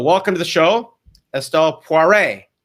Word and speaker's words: Poiré: So welcome to the show, Estelle Poiré. I'm pronouncing it very well in French. Is that all right, Poiré? That was perfect.